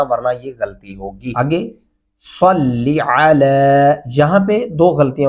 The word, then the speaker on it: صلی: تلفظ ادا نہیں ہوتا۔ صاد زبر لام، صلم زرلی، صلی، دیکھیں صاد پڑھتے ہوئے ہمارے ہونٹ گلائی کی طرف جاتے ہیں، تو یہاں پہ بھی صلی، جب ہونٹ گول ہو کے آواز نکالیں گے تو تب اپنے آپ ہی صاد بن جائے گا۔ کیا درست تلفظ ہوگا؟